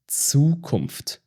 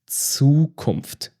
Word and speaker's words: Zukunft: It sounds like TS. Zukunft. Zukunft.